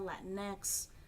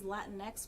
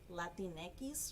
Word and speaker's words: Latinx: in the language versus latinx because when you try to pronounce it in spanish it would be like latineckis or whatever which doesn't make sense